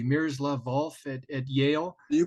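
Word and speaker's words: Miroslav Volf: in I'm hoping I'm pronouncing his name correctly mirrors love valve at Yale you pronounced it correctly yes who does uh you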